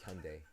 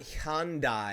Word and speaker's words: Hyundai: my new car okay and uh it's like Hyundai okay all right and then some marks oh